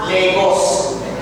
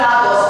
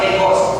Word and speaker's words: Lagos: sa Legos it is it is spelled as lagos but pronounced as Legos so para alam nila kapag foreigner k pag sinabi nong lagos you're not from Nigeria Yes kasi It's pronounced as Legos ngayon mga kaibigan pumunta